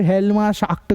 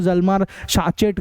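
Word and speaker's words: Hjalmar Schacht: अलग-अलग तरीके से प्रोनाउंस करते हैं इसको। कोई हेलमा शाक करके प्रोनाउंस करता है, कोई जलमार शाचेट करके बोलता है।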